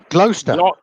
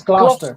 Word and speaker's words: Gloucester: He wants to know how to pronounce Gloucester. Gloucester. Well, we would say Gloucester in the U.S., but isn't it Gloucester? It's Gloucester.